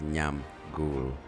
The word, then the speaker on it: Nyamgul: For those of you who cannot pronounce it, it's Nyamgul. 2 syllables, very easy and very unique.